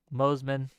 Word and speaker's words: Moseman: Slowsman. Moseman. Rhymes with Slowsman.